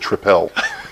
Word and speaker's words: Tripel: hey abelian strong ally bogey in triple that's pronounced triple you're okay with bulk Ian but you can